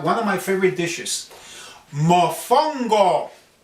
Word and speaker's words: Mofongo: of my favorite dishes, Mofongo. I love the word. Oh, it's great. You pronounce it the same way as you spell it. Mofongo is a dish that